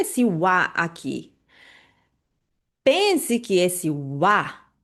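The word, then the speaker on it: は: Escreve com o hiragana, a letra ra, só que pronuncia como wa quando tá dentro de uma estrutura na dentro da frase, tá bom?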